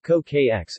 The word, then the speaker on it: c-oocj: The name Hokan is loosely based on the word for two, in the various Hokan languages, asterisk xwak in Proto-Yuman, coocj, pronounced kokx in Seri, Hokan Akumawi, etc.